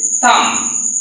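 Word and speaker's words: thumb: এরপর হচ্ছে থাম, বি সাইলেন্ট রেখেছি।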